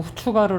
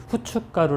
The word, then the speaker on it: 후춧가루: 차이가 남 북을 있구요 후추가루 라고 선다고 해서 발음도 후추가루 라고 하지는 않습니다 북한에서도 똑같이 발효 는 후춧가루 라고 발언하고 있습니다 여러분 양념 마지막으로 깨를